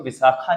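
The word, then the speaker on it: वैशाख: ठीक, ये संस्कृत की टर्म है कुछ, इसमें आई ए जो है वो मैक्सिमम साइलेंट ही रहता है, तभी इसको विशाखा नहीं बोलते, विशाख बोलते, चैत्र विशाख।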